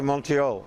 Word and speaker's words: Montreal: the english side so i say montreal because it's mount royal yes that's what it is from exactly so it should be montreal montreal's you're saying it